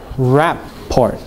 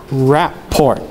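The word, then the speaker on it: rapport: that accent one one raport we'll edit this out things don't raport no okay report yeah say it again but don't say the T it's a French word and the t is silent RoR disension disension there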